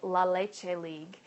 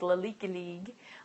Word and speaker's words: La Leche League: So that would be a resource to look into, La Leche League International. It's L-A-L-E-C-H-E and then League, La Leche League. Or as my first leader used to tease, La Leche League.